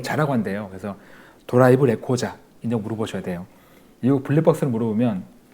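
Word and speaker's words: ドライブレコーダー: 일본 말이 아니고 우리말로 이렇게 대화 가능한 이제 전화 받을 수 있는데 어쨌든 이거 물어볼 때 혹시 내가 빌린 차에 블랙박스 있나요?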